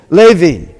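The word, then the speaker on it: לֵוִי: We've got two dots, sounds like A. And we've got Hirik Yod, sounds like E. How do you pronounce it? Levi.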